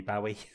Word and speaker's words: Bowie: the girls you know people don't know how to pronounce his surname is it Barry or Bowie right I said Bowie Bowie it is Bowie because he was on